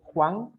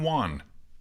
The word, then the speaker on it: Juan: Dicen como one de uno. One. Este es mero raro la pronunciación de ese nombre, ya que como son